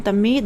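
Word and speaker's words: תמיד: Pronunciation tamid, derivation from R and set root, signifying to stretch, continuation, constantly, continually, daily, perpetually.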